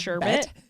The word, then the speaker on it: sherbet: Pudo did you know that sherbet is actually pronounced sherbet yeah everyone says it wrong look it up